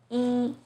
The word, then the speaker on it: 一: 一 as in number 1 is pronounced as 一, but in 一样, it becomes the 2nd tone. In 一起, it's the 4th tone.